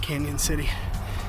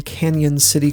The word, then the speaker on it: Cañon City: that never studied Spanish when you put a Tilda above an N it becomes an NE and is pronounced as if it were n y the Arkansas River flowing